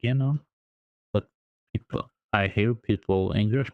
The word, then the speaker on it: enum: I thought like it would be like number. Enum, like number. No. But it's enum. Enum.